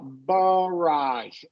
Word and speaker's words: barrage: The first syllable will usually be unstressed, so it's going to be a schwa. Barrage. Garage. Barrage.